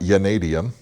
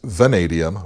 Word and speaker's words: vanadium: It's not vanadium. You can blame the old man eyes for that. It's vanadium with a V, so it's chrome vanadium.